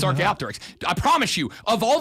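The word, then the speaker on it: Archaeopteryx: We both said archaeopterics. No, you didn't. Yes, I did. It's archaopterics.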